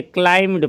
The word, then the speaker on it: climbed: V2 जो है वो क्लाइम्ड हो जाता है, बी इसमें साइलेंट रहता है, सॉरी मतलब बी, हाँ बी साइलेंट रहता है, स्पेलिंग हो जाएगा CLIMBED, बट इसको बी साइलेंट करके क्लाइम्ड पढ़ेंगे।